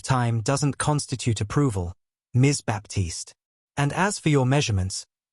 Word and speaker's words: Baptiste: Baptiste. She pronounced my last name wrong, putting the emphasis on the first syllable instead of the second.